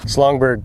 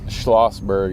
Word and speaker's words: Schlossberg: So we got Dave Slappy, Schlongberg. It's Schlossberg is how you pronounce it.